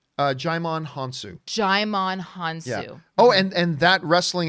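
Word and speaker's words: Djimon Hounsou: How do you pronounce his name? Jaimon Hansu. Jaimon Hansu.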